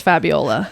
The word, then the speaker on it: Fabiola: Yes, that is the correct way to say it in Italian.